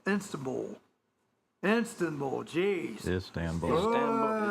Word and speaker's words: Istanbul: Uh Zalinski and Putin to meet in Insta Ball. Instab Install. Geez. Istanbul. Istanbul. Thank you. It's too early. That's That's the word that actually is pronounced like it looks.